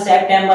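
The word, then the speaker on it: September: एन बी ई आर इसे बोलेंगे सितंबर क्या बोलेंगे वैसे तो उसका उच्चारण सेप्टेंबर होता है अब यहां पर ओ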